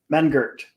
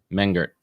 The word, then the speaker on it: Mengert: ask you this off what's what's the proper pronunciation of your last name man Gert man Gert yeah cool man Gert let's fix that up